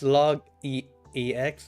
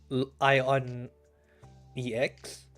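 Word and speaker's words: ln: Runs log x as log ex, not ion ex.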